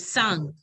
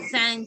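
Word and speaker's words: cinq: Sang. How do we pronounce?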